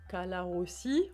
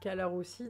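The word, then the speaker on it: Colarossi: Pas obligé de prononcer tout le temps à l'italienne. Hein. Calarossi. Non, mais je le prononce en français. C'est juste que j'ai du mal à dire Calarossi. Je vais y arriver au bout d'un.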